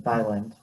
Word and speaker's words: Thailand: one is bangkok in thailand thai land is how you pronounce that um and yeah it's